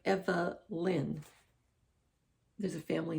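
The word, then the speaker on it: Evelynn: does turn one and her name is spelled differently it's it's evelyn but it's e v e l y n n you know so it's kind of like it's like eva lynn there's a family name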